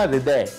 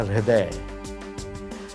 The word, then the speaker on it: हृदय: हमने कभी नहीं कहा हृदय, हमने कहा हृदय, एच साइलेंट।